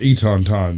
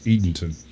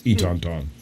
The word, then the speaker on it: Eatonton: Got a town called Etonton that everyone from out of state calls Eatonton. Eatonton. It's Etonton. Etonton. It's a Native American word. It should be said the way it's said, right?